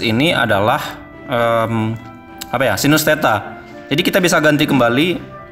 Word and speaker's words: theta: Ini sinus theta, ini bacanya theta.